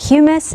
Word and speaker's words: humus: The word humus is very, very close to the word human, so that is an easy way to figure out how you pronounce that.